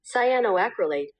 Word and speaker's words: cyanoacrylate: it up on Google this is how you Say it. Cyanoacrylate.